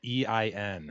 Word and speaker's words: Ein: But it's spelled E-I-N. Is that Ian? Ein. Ian? If you go by Einstein, it's Ein.